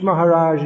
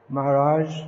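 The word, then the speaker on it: महाराज: brahmani what others tendency in english is to drop the sound h but it should be pronounced uh which maharaja is giving class tomorrow maharaja maharaja maharaja how do you write that in english there isn't any it's anyway it's not maharaj in in english you can do any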